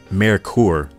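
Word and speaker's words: Merkur: the marur brand pronounced marur the word is German for mercury although these cars were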